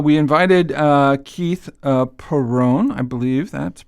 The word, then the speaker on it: Perron: uh today uh we invited uh Keith uh Peron I believe that pronunciation is that correct ke that's correct yes